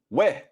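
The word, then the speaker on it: וְ: And the conjunction wow, which is pronounced we.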